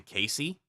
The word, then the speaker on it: Kacey: I'm probably gonna rename this to Casey, which is spelled Kacey.